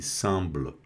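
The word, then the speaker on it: semblent: Esse ENT aqui está no verbo, não é pronunciado. Vai ser pronunciado só até o BL aqui, semble, tá? Com esse E mudo assim no final, semble, né?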